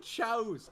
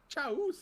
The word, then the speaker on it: chows: I said chows. Hey, I speak common perfectly fine. I speak Eric. We're fine with. I speak your language. I actually speak 5 other languages. 6, 7, many others. Chows is how you say it.